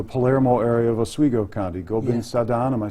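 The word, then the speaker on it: Gobind Sadan: Gobin-Sadan, am I saying it right? Gobin-Sadan, Gobin-Sadan is in Hastings, Palermo.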